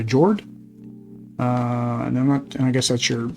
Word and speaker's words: Njord: You got Odin, Frigg, Thor, Freya, Sif, and Njord. I think the N is silent. So Jord, and I guess that's your scoring board.